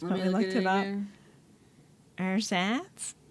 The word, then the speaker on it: Ersatz: That German word that we didn't know how to pronounce, but we looked it up. Ersatz? Ersatz.